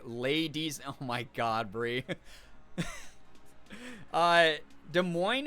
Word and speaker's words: Des Moines: Des Moines is also a hard one to figure out without help. Yeah, especially because, like, if you pronounced it like a French person would say it, they'd say Des Moines, right?